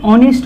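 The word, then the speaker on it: honest: ए लिखते हैं लेकिन ऑनेस्ट आ गया ना ऑनेस्ट में देखिए एच साइलेंट रहता है यहां पर अगर भी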